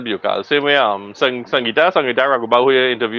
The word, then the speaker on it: Bejucal: I always call that Bujukal. Bujukal, so Well, we just pronounce it as Biokal.